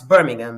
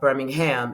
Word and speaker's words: Birmingham: in Birmingham England and I've learned to pronounce Birmingham it's not Birmingham it's Birmingham Birmingham England and they had to